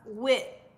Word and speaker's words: wit: to order your sandwich you'll say uh wit like like pronounce it w-i-t and that would let